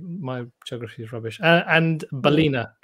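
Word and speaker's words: Ballina: okay yeah my my geography is rubbish and balina balina in ireland is how do you pronounce that lawrence you did it you did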